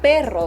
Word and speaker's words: perro: Separate it in those two syllables and go per-ro, per-ro, per-ro. Instead of perro, because you can't, right.